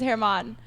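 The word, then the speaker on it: Germán: his name is Herman, but it's spelled like German.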